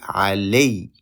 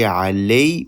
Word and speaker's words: علي: If we pause, we say alay. And you notice when we pause, we say alay, we make stress on the last letter because of the shadda.